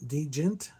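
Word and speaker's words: djent: The track is was they introduced the world to the poly rhythmic mechanical precision that would eventually birth dun deent is how you say it.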